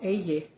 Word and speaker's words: ella: I think they start with a Y, and actually it's double L because it's pronounced y also. Like llámame, like call me. Llamar, call. As LL, that's LL. You don't say YA.